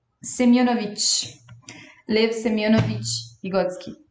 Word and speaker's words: Semyonovich: Gente, eu errei a pronúncia do nome dele, era isso que eu tava vendo agora. É Semyonovich.